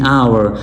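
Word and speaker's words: hour: There car does 150 miles in आवर। आवर के साथ इन इस्तेमाल होगा क्योंकि यहां पे इट्स साइलेंट है। आपने वॉवेल से स्टार्ट करना है।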